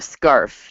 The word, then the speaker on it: Scharf: your last name please a scarf just like around your neck that's that's what I